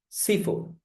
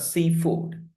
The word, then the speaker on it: seafood: Okay, now, seafood. It's not seafood. Seafood.